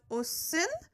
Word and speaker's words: 옷은: So if it was, for example, ot and un, after that, it would be pronounced as 옷은.